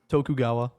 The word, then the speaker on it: Tokugawa: Tokugawa.